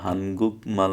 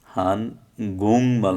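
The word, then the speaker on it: 한국말: এটা হানগুক মাল না হয়ে হান গুং মাল হবে, হান গুং মাল। এখানে আবার বানান একটু ভুল আছে, এই বানানটা আমি ভুল লিখছি, হান গুং মাল হবে।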